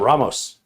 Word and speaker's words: Ramos: not and the correct pronunciation of my last name is ramos there you go ramos like vamos the man all